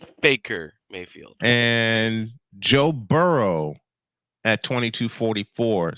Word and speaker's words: Baker Mayfield: 2 Chainz at you mispronounce 2,328. Baker's name. It's Baker Mayfield.